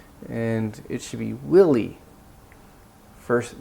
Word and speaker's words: Willy: and it should be Willy first the stress is on the first part but she pronounced both